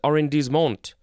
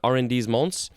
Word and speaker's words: arrondissement: It is arrondissement. Luckily, I actually know how to pronounce that one.